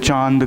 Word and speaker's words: चांद: लेकिन एक्चुअल जो प्रोनाउंसिएशन होता है उसमें क्या होता है, आपका आपके मुंह और नाक दोनों से बाहर हवा आना चाहिए, तब वो जाके एक्चुअल प्रोनाउंसिएशन होता है चांद करके, ठीक है।